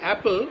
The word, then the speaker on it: apple: Next, in the word apple, only one P is pronounced.